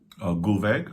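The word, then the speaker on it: Gullveig: There's Gulveg, this sorceress who's burned alive 3 times. Oh, wow. Gulveg, okay. Good. Correct pronunciation for her as well.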